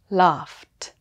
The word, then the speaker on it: laughed: While talk and laugh end with the K and F sounds, so the ED is pronounced T. Talked, talked. Laughed, laughed. That's all.